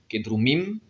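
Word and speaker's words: que drumim: Kedrum, kedrumim, nous dormons. Alors là, l'accent tonique passe sur la terminaison, alors que jusqu'à présent, c'était sur le radical.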